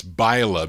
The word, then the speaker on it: Byla: versatones march 1958 byla i said billa but it's bila buy gotta phonetically write it bylas the name of